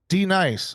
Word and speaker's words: Denise: That is why there's a capital N kind of kind of like the substitute teacher uh sketch from K and Peele a little bit. Okay. D nice.